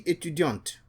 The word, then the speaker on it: étudiante: And the woman will say, je suis étudiante. The T is pronounced for a woman, but the T is silent for a male.